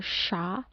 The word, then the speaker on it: siya: Here S and Y or as I Y pronounce like in English word shop. Like siya or sha, siam or sham.